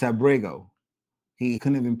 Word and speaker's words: Abrego: Abgo. It's Abrego.